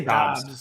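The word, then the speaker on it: Doubs: I say Dobbs. It's Dobbs.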